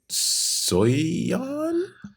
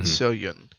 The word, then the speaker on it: Soyeon: I'm pretty sure though it is Yun instead of Yun, like Yan. I think it's Miyun and Soyun.